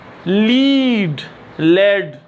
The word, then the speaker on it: lead: लीड, लेड जो है इसको हम सिक्का बोलते हैं।